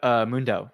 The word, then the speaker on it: MoonDAO: Yep, MoonDAO.